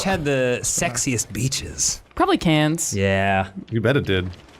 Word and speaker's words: Cairns: Wait, she means Cairns, Yeah. not cans. Karen? Well, I mean, I think how she pronounces it is probably how it's pronounced. I disagree. Oh. Okay, fair enough. It's got an R in it, Australians.